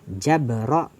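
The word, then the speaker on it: جبرئل: Jadi jabrail, bacanya sama, fathah jim dan ro, jabra, tetapi tidak ada huruf ya setelah huruf hamzah, jadi bacanya pendek, jabrail.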